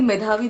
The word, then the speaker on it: Medhavi: Yeah, so am I taking your name correctly? Medhavi, that's right? Yes. Thank you. Thank you for pronouncing it right.